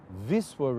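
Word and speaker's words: Wisła: this Chula River or Viswa River as they pronounced it in in Polish with Vistula to the rest of the world how about the view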